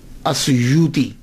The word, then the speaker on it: السیوطی: جو السیوط ہے نا، اس کے تلفظ میں 2 باتیں قابل غور ہیں۔ پہلی بات تو یہ ہے کہ اکثر الف چھوڑ جاتے ہیں، سیوطی کے علامہ جلال